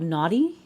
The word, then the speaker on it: Noughty: It's by the company called Naughty. It's spelled Noughty, but it tastes pretty good.